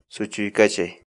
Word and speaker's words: suchuykachay: day for today is so Chi Chi Chi su chi Chi Chi su chi Chi Chi in English the Quechua